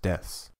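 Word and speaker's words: です: last noun or adjective the pronunciation of Desu is usually shortened to just deaths in order to make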